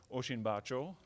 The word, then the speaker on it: Osinbajo: Y Oshin Bacho. Um I've been told by colleagues from Nigeria that that's the way to pronounce the name.